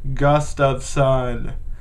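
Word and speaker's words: Gustavsson: have is of Jonas Gustafson and I still can't say his name properly like Don Cherry Jonas gust of sun there we go um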